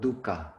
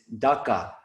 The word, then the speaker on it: dukkha: on the word dukkha please note the pronunciation we all be aussies have a tendency to pronounce it dhaka which is like a dry dip that we mix olive oil and drip out bread and dip our bread into it's like a dip it's not dhaka it's dukka but speaking